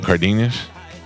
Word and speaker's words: Cardenas: Rudy how do you say your last name cardinus cardas card just kid cardinus what uh what